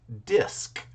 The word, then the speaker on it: DISC: The problem that I had, and I think one of my coworkers had, was just that hard C at the very end, making DISC seem very difficult.